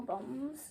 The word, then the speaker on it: bombs: see how i spell bombs yeah because i forgot if it was like with a b or an r it's got it's got a silent b on the end hasn't it yeah so